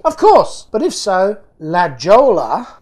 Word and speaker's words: La Jolla: Of course, but if so, La Jolla, pronounced La Jolla.